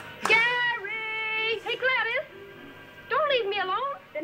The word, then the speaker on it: Gladys: ] gary hey gladys don't leave me alone then hurry up it's pronounced gladdies gary clavis is running